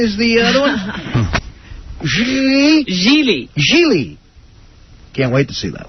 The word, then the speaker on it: Gigli: Even if it's not, they should spell it for me, Laura. So it's Lara Croft and Jiggly is the other one? Gigli.